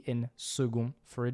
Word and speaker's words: second: Speaking of second, we'll switch the c in second for a g, which, as you can hear, is pronounced with a g and not a k. In fact, second used to be spelled